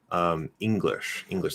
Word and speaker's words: English: other neutral dialects but so it's supposed to be e english that e can get kind of lazy maybe go into it a little bit but english so using the back and remember the sound the ng sound is not um there is no g okay um some words